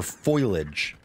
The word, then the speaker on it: foliage: Do you say foliage or foliage? It's definitely foliage. Yeah. The I is after the L.